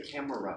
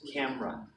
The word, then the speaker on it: camera: Stadium in the US we don't usually say camera we say camera your home run two syllables camera camera good Museum a huge